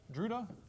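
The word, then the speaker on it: Drude: called the druda model it's pronounced druda I'm not sure why I'm sure it's related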